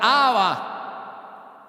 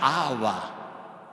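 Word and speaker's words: Abba: Jesús trae la sorprendente palabra aramea aba, que es un término familiar de afecto nomatopélico como papá. La primera palabra que los nenes pronuncian AB.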